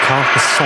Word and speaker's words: Carcassonne: This Ryanair UK aircraft, and from, I believe it's pronounced Carsasone, is it? I believe it's a French destination. It's a Ryanair UK plane, registered in the UK. It's got the Golf registration on it. Carcassonne.